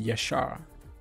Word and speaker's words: Yashar: I think that's how he told me it's pronounced, Yashar.